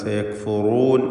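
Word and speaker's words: سَيَكْفُرُونَ: എന്നാൽ സയക്ഫുറൂൻ എന്നതിലെ റാഇന് തഫ്ഖീം കൊടുക്കണം, തടിപ്പിച്ചുച്ചരിക്കേണ്ട അക്ഷരമാണ്.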